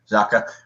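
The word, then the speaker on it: Xhaka: naturally the Swiss midfielder uh how do you pronounce the last name it's zaka yep zaka I think that's going to be great for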